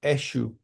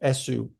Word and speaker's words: Eshu: sacred saint type figure called Eshu, sometimes pronounced Esu, E-S-U or E-S-H-U.